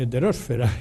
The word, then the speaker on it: heterosfera: Por cierto que se dice atmósfera, pero no se dice heterosfera y ionosfera, es una cosa interesante lo de los acentos en castellano o español.